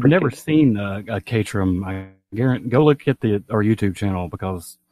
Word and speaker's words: Caterham: Yeah, Caterham.